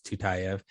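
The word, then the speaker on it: Tyutyayev: listener so it's t-y-u-t-y-a-y-e-v it doesn't sound like how it's spelled but it's tutayev and he's a really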